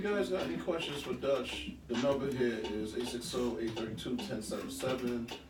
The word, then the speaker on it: Dutch: Now, that's not Josh. Everybody thinks I say my name is Josh. It's Dutch, like a Dutch. Like you go to the gas station, you put $1 on the counter, and you get a Dutch.